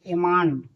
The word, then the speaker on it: almond: ALMOND एमांड, यहाँ क्या है, एल साइलेंट है।